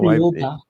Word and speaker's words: Thiaoouba: Now, there's a prophecy that you want to talk about, and I cannot figure out how to pronounce it. So Thiaoouba.